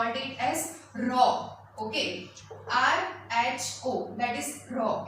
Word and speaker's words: rho: Okay, RHO, that is rho, its pronunciation is.